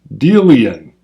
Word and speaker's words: Delian: great monkey king X I get long e capitalized the Ian quotes it as in dealing cards but in dealing in Delian please pronounce correctly now I'm good so